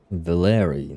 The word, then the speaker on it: Valeri: Valeri, that's how they pronounce it.